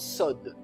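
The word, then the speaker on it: סוד: s'écrit C o WD ça se prononce SOD et ce mot SOD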